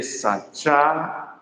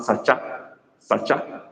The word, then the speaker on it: saa: one okay let's see which one is correct is it double A or 1 a after CH the one that is correct is double A because my pronunciation was drawn longer I say SAA double A SAA if it is it